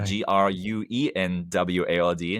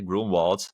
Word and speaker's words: Grunwald: So, the G R U N W A L D Grunwald, if you ask American how to pronounce that, but Grunwald in in German.